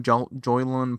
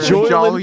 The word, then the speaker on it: Jolyon: Joylan Palmer, or whatever the fuck his name is. I need fucking. Where's Joylan Palmer? What is up with us saying names? Joylan Palmer.